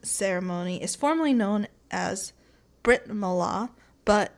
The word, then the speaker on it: Brit Milah: So, the Jewish circumcision ceremony is formally known as Brit Milah, but it's more commonly known as bris.